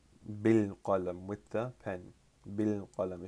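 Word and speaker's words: بالقلم: If you add a ba particle here, you're not gonna pronounce the alif. You're not gonna say bi al qalam. You will pronounce bil qalam, and we talked about that in 19th class.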